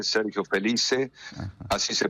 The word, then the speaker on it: Sergio Félice: Está muy bien pronunciado, Sergio Felice, Sergio Felice, Ajá.